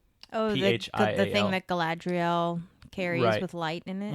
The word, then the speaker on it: Galadriel: Galadriel carries with light in it.